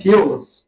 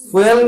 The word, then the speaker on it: fuels: বাঙালিরা উচ্চারণ করে ফুয়েল, আর ইংলিশে উচ্চারণ করে কি, ফিউলস।